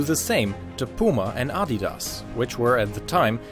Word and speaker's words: Adidas: shoes could do the same to Puma and Adidas which were at the time extremely popular in